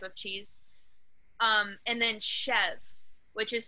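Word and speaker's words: chèvre: any other type of cheese um and then chev which is spelled c-h-e-v-r-e um people always mispronounce it badly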